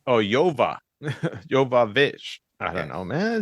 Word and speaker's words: Jovovich: All right, Mila Jovovich. Mila Jovovich. Yoya or Yo-Yo? Jovovich. Oh, Yova. Jovovich. I don't know, man. It's just the J is pronounced with a Y.